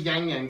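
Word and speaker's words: ylang-ylang: black vanilla, rose, orchid, ylang ylang. I think that's how you say that. Yes. Tobacco and cedar. It was always yang yang to me. Yang yang, ylang ylang. It's ylang. I'll pronounce the L.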